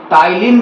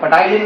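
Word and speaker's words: ptyalin: तिल भी कहते हैं पटियालील नहीं है ये है तिल अच्छी तरह से प्रोनाउंस करना है जैसे की निमोनिया में भी देखो आगे में क्या होता है पी होता है एन होता है तो वो पी का शब्द जो है इसको हम लोग सारे पी लेटर को हम लोग साइलेंट कर देते हैं प्रोनाउंस करने में उसे तरह से जो मैंने यहां पर ये पी को भी साइन कर देंगे तिल हम लोग कहेंगे तो ये सेलिब्रिटी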